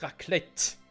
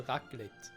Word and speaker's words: Raclette: Wir in der Schweiz sagen nicht Raclette. Also es ist nicht so, dass das C hart und das T auch hart ausgesprochen wird. Das C ist eher wie ein G und das T eher wie ein D, also Raclette. Sagt man in der Schweiz, nicht Raclette.